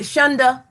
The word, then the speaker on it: Shunda: Shunda? Mm-hmm. That's how you pronounce it.